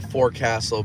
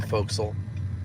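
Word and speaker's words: forecastle: forecast yeah Naval terms you have the four Castle but it's pronounced the folksel like do the British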